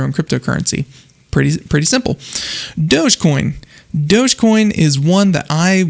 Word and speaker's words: Dogecoin: into it and again it is pronounced dogecoin it is not doggy coin it's a cryptocurrency invented